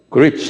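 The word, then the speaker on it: griefs: 어 그립스 한번 발음해 보세요.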